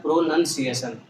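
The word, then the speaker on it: pronunciation: एक और वर्ड है आप याद रखो, जैसे हम बोलते हैं प्रोनाउंस, उच्चारण, है ना, वैसे होता है प्रोनंसिएशन, प्रोनाउंस मतलब उच्चारण करना और प्रोनंसिएशन, नंसिएशन, प्रोनंसिएशन का मतलब है उच्चारण।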